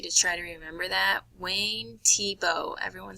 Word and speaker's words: Wayne Thiebaud: is Wayne Tebow and you can see up here how his name is spelled but it is pronounced Tebow and that is going